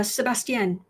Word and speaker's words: Sebastian: Uh, how is your name pronounced? Uh, Sebastian.